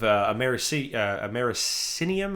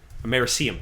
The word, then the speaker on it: americium: For instance, every smoke detector has a traces amount of americinium. Am I pronouncing that right? I can never... Americium? Americium, thank you.